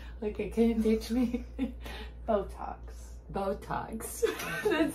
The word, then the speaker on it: Botox: Buttocks. Buttocks? Buttocks. We'll put that on the list next time. Words for you to pronounce. Okay, can you teach me? Botox.